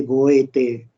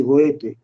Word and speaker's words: Goethe: poeta que se escribe Goethe, ¿sí? G-O-E-T-H-E. Pero no se dice Goethe, ni tampoco se dice Goethe, como dice alguno, no, se dice Goethe. Esa E última hay que ponerla como una colita ahí.